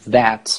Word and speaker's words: that: که شما میگین that حواستون باشه که گفتم تی رو در آخر تلفظ نکنین کامل، بلکه اون رو بیان یه مقدار در واقع کاهش بدید، یعنی نگین that، بگین that that، یا نگهش دارین that.